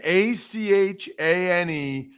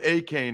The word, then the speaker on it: Achane: Nope, it's Devin, Achane. Neither one of us know how to pronounce it. I'll go with Achane right now.